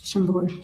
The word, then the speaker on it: Chambord: Chambord. Chambord.